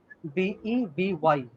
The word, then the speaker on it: bevy: I'm unable to pronounce it. The word is BEVY.